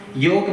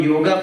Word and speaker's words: Yog: tell you in fact we try to equate the pronunciation also the way they they pronounced and therefore Ramayan become Ramayana for us. Mahabharat become Mahabharata for for us. Yog become yoga for us.